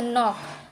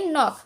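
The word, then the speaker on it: knock: एन से पहले आया के साइलेंट होता है, एन से पहले आया के साइलेंट होता है, जैसे कि नॉक, जैसे कि यह नॉक। अब हम के हमारा साइलेंट है तो हम पढ़ेंगे नॉक। नीड, नाइफ, नो, नी, नॉलेज की नॉलेज नहीं पढ़ेंगे, नॉलेज।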